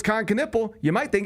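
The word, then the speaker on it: Knueppel: you don't know it's Kanipple you might think it's Kanipple. Yeah that's right because it kind of looks like Khan Kipple. It does but it's Kanipple.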